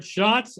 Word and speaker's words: Schatz: and then he said something about it rhyming with shots and beers, and so I'm like, okay, so we'll go with Schatz and Tanier.